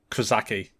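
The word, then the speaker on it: Krzyżacy: okay spell that one I say kazaki I don't think that first Zed is pronounced yeah okay so probably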